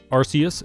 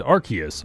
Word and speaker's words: Arceus: Arceus and Arceus are both perfectly valid pronunciations. This is a tomato-tomato situation.